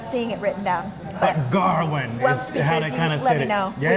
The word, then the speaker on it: Gawain: Gawain. How did they pronounce They it were in the like movie? Garwin. Yeah, Like they almost had an R in there, didn't It's it?